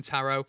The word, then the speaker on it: tarot: Lesson 1 was pronouncing tarot. Apparently the T at the end's silent.